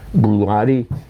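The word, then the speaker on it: Bruichladdich: I know if you saw that written, you'd never be able to pronounce it, but it's Brulati, and it's called Octomore.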